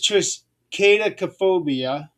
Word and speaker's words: triskaidekaphobia: There's two of them actually, but there is Well, the one here is triskaidekaphobia. tri, tris, triskaidekaphobia. That's what it is. Triskaidekaphobia. That's how I think it's pronounced.